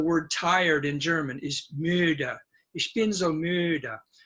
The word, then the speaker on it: müde: For example, the word tired in German is müde. Ich bin so müde. But if I use English pronunciation, it would sound like ich bin so müde or so müde. And that's not German.